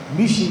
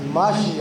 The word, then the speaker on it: ماشیہ: بعض مومن اور جوان مشی کہتا ہے، مشی مشی، یہ عربی کا لفظ ہے، اصل میں تلفظ ماشیہ ہے، ماشیہ، میم شین اور